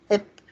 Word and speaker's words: bi: And I'm pronouncing the bi ip because that's how my friends say it. A lot of people will just reduce bi to p or ip, and sometimes just b instead of b.